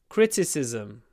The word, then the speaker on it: criticism: The stress is always at the start. I think criticize, criticism, critics. Always on the first syllable. That means always crit. Open your mouth. Criticize, criticism, critics. Not cri, cri, cri.